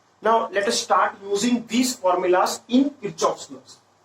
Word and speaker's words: Kirchhoff: current electricity as well, the actual pronunciation of this word is Kirchhoff.